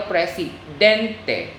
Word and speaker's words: presidente: makes it spanish importante so the words that end ends in ent and ent are stressed on the next to the last syllable example el presidente so that's the second to the last syllable it's stress out so though the words